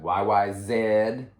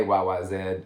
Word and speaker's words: YYZ: you know also good to know it's got yyz i believe that's how you pronounce it it's a canadian airport code it's easy to say most people say y-y-z so if you say y-y-zed you probably get a weird look but that